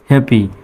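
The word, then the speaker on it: happy: হ্যাপি বানানে দেখা যাচ্ছে এইচ এ হ্যাঁ, ডাবল পি একটাই প, কারণ ইংরেজি শব্দে ডাবল লেটার উচ্চারণ সিঙ্গেলভাবে হয়। ডাবল পি আছে জন্য এখানে দুইটি প হবে না, একটাই প হবে। এখানে দুটি পি মিলে একটাই প, আর এই ওয়াইটা রস্বইকারের মতো উচ্চারণ, তাই হ্যাপি।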